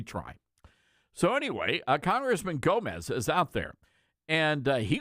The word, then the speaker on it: Gomez: It's not Yome. That's But it is silent on like Guatemala and guacamole. that but it's the G is not silent here.